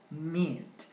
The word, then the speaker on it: meat: la carne por ejemplo meat muy bien esa pronunciación hay que practicarla porque no es una I cortica es más una larga meat acá tenemos una ictica